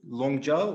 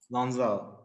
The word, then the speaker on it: Lanzhou: Did you use a private name, Longzhou or Lanzhou? Lanzhou.